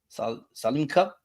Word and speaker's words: Solheim: LPGA with the Sal I keep messing it up Salim Salim Salim cup that said it right